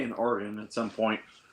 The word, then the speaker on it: Oregon: some point U or or as they say up there organ I always want to put better than the other one the other ones organ origon orun that's in the midwest yeah we'll take places of other names like there's an there's an Oregon Ohio but we say Oregon uh I used to live